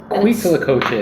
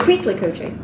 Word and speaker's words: huitlacoche: So it's huitlacoche, sometimes spelled with a H, sometimes spelled with a C. Huitlacoche. Huitlacoche.